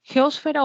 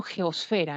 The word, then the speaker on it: geosfera: Geósfera o geosfera, ¿no? En algunos casos se expresa de las dos maneras. Esto va sin tilde, ¿no? Y nosotros lo pronunciamos a veces con tilde.